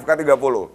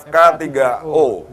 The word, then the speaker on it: FK3O: Seperti saya ini membacanya FK30. Tapi ternyata yang benar adalah FK3O.